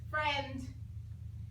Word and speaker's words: friend: II ok Fred and you would think it'd be a long I or maybe an e long e but it's not it's a short e now we have this